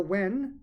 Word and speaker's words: yuan: So what will also happen is now that India is using the wen, it's spelled yuan, but it's pronounced wen.